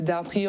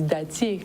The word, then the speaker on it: dartrier: Donc nous en créole, on dit dattier. Oui, oui. Parce que nous pas prononcer ces R là. Ouais, mais non, c'est dartrier. C'est dartrier. Oui. Ah, pas dattier. Pas dattier. Oui, oui.